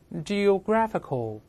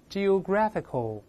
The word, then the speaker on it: geographical: 就好了， geographical，还是重音后移了， geographical，再读副词 geographically 叫地理学方面。